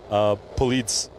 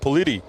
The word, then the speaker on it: Polite: During fun fact, during globals, I was saying like Polite's name wrong the entire time. I was like Politi. Like, no, it's actually Polite.